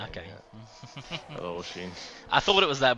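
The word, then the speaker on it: Oisín: it oh it's about o i s i n and I don't want to butcher it all right uh that's oen yeah that's an Irish okay oen I thought it was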